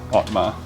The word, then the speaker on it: Othmar: um otima yeah so atma is my granddad's name or actually like it's spelt othmar but we um just wouldn't get it yeah we dropped but then pronounced atma so we dropped the h and um yeah so